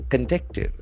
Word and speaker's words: conduct: So to be conducted. C O N D U C T. There are two syllables and the accent falls on the second syllable.